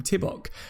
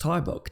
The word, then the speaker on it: Tybok: back, and you said I always used to pronounce your name Tibok, and you said it's pronounced Tybok, didn't you?